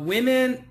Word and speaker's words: women: a problem too uh women actually the pronunciation is i i w i m i n women women women very good so singular woman woman woman plural women women women okay and uh